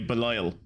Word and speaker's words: Belial: I've been calling you Belial, and I will not stop calling you Belial, because that's how that name is pronounced.